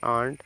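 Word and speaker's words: aunt: एन टी क्या है ए यू एनटी इसको पढ़ेंगे आंट आंट मींस चाची नेक्स्ट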